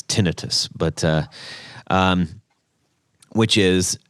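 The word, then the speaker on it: tinnitus: worried because I thought it was uh tinitus also called tenius um uh apparently the correct pronunciation is tinitus but uh um which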